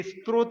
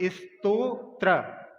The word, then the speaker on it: स्तोत्र: ये स्त्रोत नहीं है, स्तोत्र। पहले ता है, बाद में त्रा है, इसलिए उच्चारण में अपन इसका सही उच्चारण करेंगे।